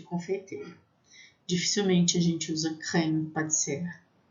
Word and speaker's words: crème pâtissière: Dificilmente a gente usa crème pâtissière. E aí, cuidado, que às vezes algumas pessoas falam assim, creme patisserie. Não, não é creme patisserie. Patisserie é confeitaria.